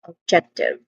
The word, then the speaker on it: objective: When it comes to pronunciation one, it starts with awa sound uh of so weak and stressed o vowel sound and then followed by j check which is a which is a stress syllable check and ends with t short e vowel sound. So this is all in all objective.